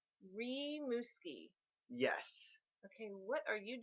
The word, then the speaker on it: Rimouski: ladies he's all mine it's pronounced rimouski ree muskie yes okay what are